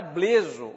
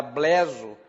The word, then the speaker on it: bleso: Era bleso, ou era bleso, porque não existe regra para pronunciar esse aberto e esse fechado.